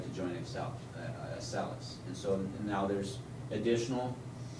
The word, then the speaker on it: Acellus: Acellus, yeah.